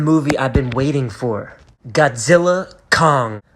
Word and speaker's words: Godzilla x Kong: I've been waiting for Godzilla Kong a new Empire is out the x is silent now there are things